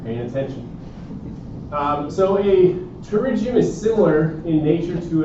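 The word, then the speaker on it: pterygium: So the first disease we're going to talk about is a terigium. Terigium. Okay. Again the P is silent just like intosis. Tigium. Not a terriium just terigium.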